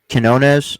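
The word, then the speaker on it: Quiñones: the last roster spot probably goes to Lester Quinones. Is that how you pronounce it?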